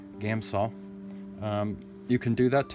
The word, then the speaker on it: Gamsol: If you have a jar to do your Gamsol, it's not Gamsol. I put an extra syllable in there. Gamsol.